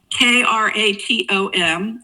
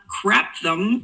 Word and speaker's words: kratom: So, when they say, "I just take kratom," which is spelled k r a t o m, not craptom or something else, but kratom, that could mean anything